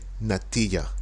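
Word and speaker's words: natilla: thing called natija n-a-t-i-l-l-a natija is how it's pronounced it when i first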